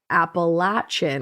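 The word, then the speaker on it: Appalachian: Like, I'm going to throw an apple at you if you say it wrong. I like that. They lived there. I'm from there. I know how to say it.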